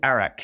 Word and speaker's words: arak: theory but there is called arak it's uh like the country close enough spelled with an a it's a it's fermented